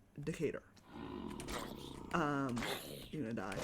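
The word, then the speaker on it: Decatur: that she cannot pronounce Decator. Once again, it's spelled correctly. It's spelled like that way, but it is not pronounced that way.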